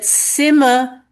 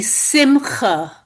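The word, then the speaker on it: שׂמחה: There was B'nai Ches and B'nai Hess, the people who couldn't pronounce the ch, so they pronounced it like a hey. So that Simma was really originally Simcha, which it sounds interesting.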